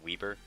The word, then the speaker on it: Weber: how you pronounce it I know it reads we b r but I learned it's pronounced Weber and that just bothers